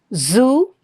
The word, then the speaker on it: zoo: Zoo. Lot of people pronounce it as j. They they use the j instead of the z sound. It's not j. It is zoo.